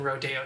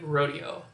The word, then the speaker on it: rodeo: pronunciation the sporting event the spanish word for detour is a rodeo as in rodeo drive or of course a sporting event rodeo round two question number